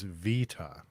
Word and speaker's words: beta: The UK pronunciation is supposed to be beta. It's the US that says beta. Original Greek is vita.